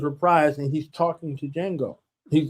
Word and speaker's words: Django: and he's talking to Django. He's like and the D is silent.